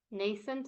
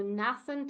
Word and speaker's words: nascent: speaker and it's still there's a lot of nascent American I know you can't hear this but you can definitely have a look snaff and it's very different in British so nascent and British and an American nascent so I was I